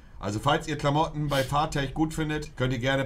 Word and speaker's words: Farfetch: Es heißt einfach Farfetch, Bro. Echtiger Punkt. Also falls ihr Klamotten bei Farfetch gut findet, könnt ihr gerne bei Twitter einfach mich drauf verlinken und dann gucke ich mal nebenbei.